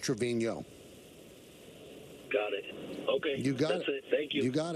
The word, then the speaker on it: Trevino: the tilde over the end which is usually Trevino but he doesn't have the tilde but his name is pronounced Trevino got it okay you got it thank you